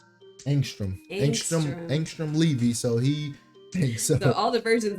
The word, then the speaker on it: Angstrom Levy: Angstrom Levy.